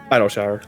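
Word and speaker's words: Idyllshire: Do you pronounce it as Idleshire or Iltshire? Idleshire.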